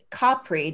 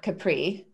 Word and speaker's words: Capri: I have not been, and it's Capri, not Capri, like everyone says. That's how you say it in Italian.